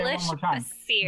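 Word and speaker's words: Bassir: Basir, yes, B-A-S-S-I-R. Basir.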